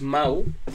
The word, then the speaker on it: Mahou: Y entonces que se escribe Mahou, M-A-H-O-U. Y nada, y hace un juego de palabras con que Mau suena igual que Mau de Mauricio.